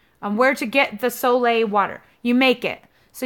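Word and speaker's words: Solé: container, and that's your Soleil water. There's a video on how to make it. It's spelled S-O-L-E water. E with a little over the top. So yeah, Soleil water.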